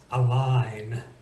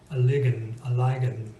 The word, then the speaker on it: align: Knife is a little bit harder to say than just knife, or the silent G in align, a lign, a ligan.